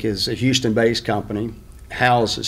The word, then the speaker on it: HOUZE: building science inc is a houston based company house is spelled h-o-u-z-e and the z-e stands for zero